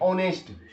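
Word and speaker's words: honest: एक ईमानदार व्यक्ति एन ऑनेस्ट देखो ओ यहां पर उच्चारण आ रहा है ओ का ऑनेस्ट मैन ऑनेस्ट इसको नेस्ट पढ है ना तो नेस्ट मतलब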